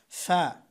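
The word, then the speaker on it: ف: ফা, এই আলিফ, আলিফ যেখান থেকে উচ্চারণ করেছিলাম ফা অনেকটা সেখান থেকেই, এই উপরের দুই দাঁতের আগার সঙ্গে, দুই দাঁতের আগা এবং নিচের ঠোঁটের পেট, অর্থাৎ এখানে এই দাঁত এখানে আসবে। ফা, ফা।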